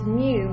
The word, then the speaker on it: mu: So what this means is this mu, which is, it's kind of like an M and a U combined, and that's what it sounds like, mu. It's MU is how we would spell it out.